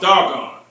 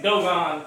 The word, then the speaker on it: Dogon: Same tribe, just pronounced Doggone. You know what I'm saying? And they be saying Dogon tribe. They be calling it Dogon, and I'll be hearing about that.